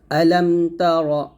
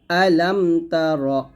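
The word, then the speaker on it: ألم: মাক্কিয়াহ বিসমিল্লাহির রাহমানির রাহিম আলামতার আলামতার এখানে আলামে আমরা অনেকে এই জায়গার মধ্যে মিমের উচ্চারণটা একটু কলকলার মত করে ফেলি তো এই শব্দটা যেন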